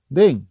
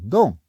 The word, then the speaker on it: Dan: Así, el equivalente de Dan en otro idioma podría escribirse simplemente dn, y se podría pronunciar Dan, Den, Din, Don o Dun, sin dejar de ser el mismo nombre original hebreo.